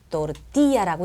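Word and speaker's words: tortilla: 자, 아로 끝났어요. 그죠? 3음절이거든요. 아로 끝났으니까 끝에서 두 번째 음절에 강세가 가니까 어떻게해요? 또띠야라고 읽어 준다는 얘기죠. 그죠?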